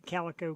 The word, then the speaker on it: Calico: And he said, it's like the Calico Cat.